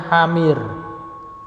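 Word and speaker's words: حمير: Tapi kalau di situ kan tulisannya kan gini Pak ya. Hamir, ada ya, maka ini bacanya hamir.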